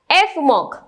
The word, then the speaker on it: Fmoc: एफ मॉक। Okay, इसको एफ और मॉक ऐसे प्रोनाउंस करते हैं।